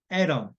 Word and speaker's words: atom: 그다음에 모음 이제 방금 tutor 할 때 나왔다는 얘기긴 한데 모음 사이에 T가 있으면 플랩 현상이 납니다. 그래서 리을 발음 나죠. 그렇죠. 보시면 atom 하는 게 A하고 O 사이에 T가 있으니까 atom.